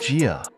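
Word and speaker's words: 九: the number of Emperors in Mandarin it's pronounced Gia meaning longlasting for the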